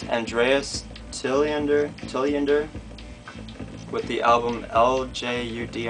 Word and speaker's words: Ljud: This is Andreas Tilliander with the album LJUD. I think it's pronounced something like Ljud. I don't think you would really say the L too much.